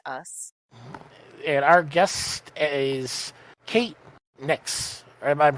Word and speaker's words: Kate Nyx: and our guest is Kate Nix I'm pronouncing that part right yes all right just like the goddess make awesome so in